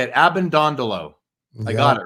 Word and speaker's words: Abbondondolo: must have been first in attendance at school Abend dondolo that's how you say it ab and dondolo I got it right you got it nailed